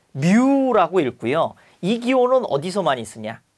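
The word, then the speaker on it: μ: 우리 설명하면 오하루 종일 걸리니까 기호 위주로 보는데 얘는라고 읽습니다 얘는 뮤고 점도에가 밀도를 나눈 동 점도는 누라 읽는다 자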